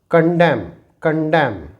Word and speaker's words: condemn: Here इसे हम पढ़ेंगे कंडेम। यहाँ पर N साइलेंट होने की वजह से इसे हम पढ़ते हैं हैम।